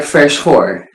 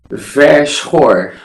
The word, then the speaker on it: Verschoor: pronounce your second name correctly, or how it is actually pronounced? You were kind of right. It's called like Verschoor. Come again? Verschoor. Verschoor.